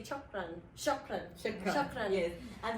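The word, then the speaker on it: شكرًا: Shukran.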